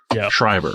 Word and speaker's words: Schreiber: yes cotton weary um yeah how do you pronounce that leave scriber schreiber schreiber okay i love him dude he's so good